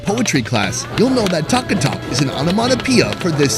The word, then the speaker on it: Taka Tak: This place has it all, from modern comfort foods to more adventurous options, including something they call taka tak.